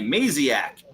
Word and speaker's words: Maciag: Maciag. There you go. Because we were like. yeah, thank you. It's like maniac. It's maniac.